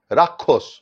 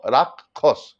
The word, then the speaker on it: রাক্ষস: উচ্চারণ করেন, যেমন যক্ষা, রাক্ষস। কিন্তু উচ্চারণ দেখলে মনে হচ্ছে রয়াকার কয়ে খ, রাক্ষস, কিন্তু উচ্চারণ তা নয়, এটা হচ্ছে কয় মধ্যনস্য, তাহলে উচ্চারণ হবে রাক্ষস।